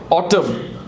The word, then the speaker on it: autumn: Autumn.